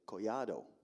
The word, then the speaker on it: Collado: me um but actually colado is actually Spanish and in a Spanish pronunciation of my last name is actually coyado two L's in Spanish make a y sound a year sound so I'm or